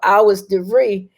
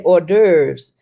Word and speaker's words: hors d'oeuvres: So he was looking around for hours de vie, and he realized she was trying to say hors d'oeuvres.